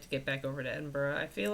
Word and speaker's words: Edinburgh: So, Edinburgh, yeah.